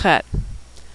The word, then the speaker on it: chet: Next is chet. That's a tricky one to pronounce because we don't have that sound in English. It's a throat-clearing sound, like the German ach, or the Scottish loch, or like you're getting ready to hock a loogie.